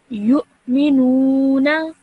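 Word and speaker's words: يُؤْمِنُونَ: Because the waw is not pronounced, the hamza is pronounced, okay? So it wouldn't be you, it would be you, because the hamza is there, okay?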